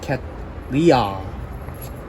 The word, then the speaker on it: Cattleya: Apparently pronounced Cattleya.